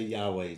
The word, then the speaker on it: Yahweh: And tell me again how to You pronounce can just that. Say say YHWH. Yeah, you can say Yahweh.